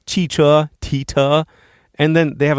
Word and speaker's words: 汽车: All right, so they have one flashcard here for 汽车, car, but they have the pronunciation on it, tita. Really? Seriously? That's like not even close. 汽车, tita.